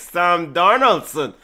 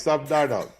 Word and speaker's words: Sam Darnold: It's Sam Darnold. Darnold. Is what? Which one is it? Sam Darnold. Yes. Yeah. Yes, Sam Darnold.